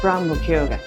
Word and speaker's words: Grand Mercure: It's a French group, so it should be Grand Mercure Please check their correct